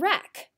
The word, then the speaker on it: wreck: So what other words do you know of with the silent W? How about the word sword and wreck?